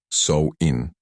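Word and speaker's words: Samhain: celebraciones más importantes era samain pronunciado sou in que tenía lugar la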